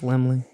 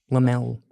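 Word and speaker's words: Laemmle: Glendale ly Lemley okay I think it's Lemley it's not lamel it's laly right it's l oh you're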